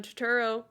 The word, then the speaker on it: Turturro: universe called Jesus roles which are boy John Turturro that pronounce it right yep cool he directed wrote